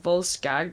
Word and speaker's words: Volskygge: We've heard the guy at Solitude talk about Volskygge. I know he pronounced it Volskag, but it is based on Nordic, so...